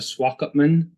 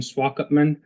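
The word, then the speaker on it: Swakopmund: five uh nights in swalk upman now I have to say it took me about four days to be able to pronounce that it's a German word uh at one point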